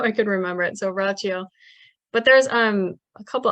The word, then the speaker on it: Rachio: and the is it ratio is that how you say it yeah I remember it's like Ralph Macchio's I think it's rachio how I could remember it so rachio but there's um a